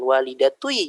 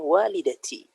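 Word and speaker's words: والدتي: Nggak bisa didomahkan walidatui jadinya. Nggak enak dibacanya. Dan orang Arab tidak ada yang membaca seperti itu. Mereka bacanya walidati.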